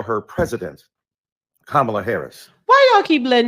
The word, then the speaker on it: Kamala: be respectful to the Congresswoman who insisted upon mispronouncing Kamala Harris. Do you call Melania? Do you call Ivanka? Then call Kamala.